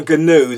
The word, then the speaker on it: gnu: the song I'm a GNU they voiced the silent letters in all the words other than gnu to highlight the Folly in pronouncing the G in the eponymous animal's name there are jokes on